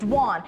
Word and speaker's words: Doan: a million times it's duan it rhymes with Swan it's very simple it's